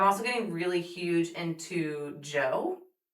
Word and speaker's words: Djo: I'm also getting really huge into Joe which is spelled like DJO and if you know who Joe Keery is, he's Steve Harrington from Stranger Things.